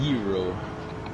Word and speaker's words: gyros: It's pronounced Euro. Heroes. Euro, like with a Y.